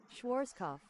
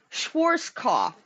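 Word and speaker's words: Schwarzkopf: over here how do you say this word Schwarz cough Schwarz cough okay for anybody wondering that was the word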